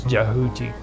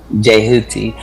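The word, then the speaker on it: Djehuti: Yeah, the D is silent. It's Jehuti. Jehuti.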